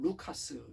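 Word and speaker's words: Λουκᾶς: 안디옥에서 출생은 헬 라인으로 헬라 10 발음은 루카스 입니다 주 50 년 경에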